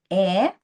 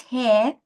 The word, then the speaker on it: heir: Then again, I happen to know that he was heir. Listen to the pronunciation here. Not hair to a lot of money.